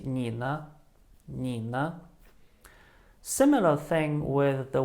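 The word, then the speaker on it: 你呢: have the combination of nina the first syllable knee is in the third tone and it means you the second one has no tone and it just turns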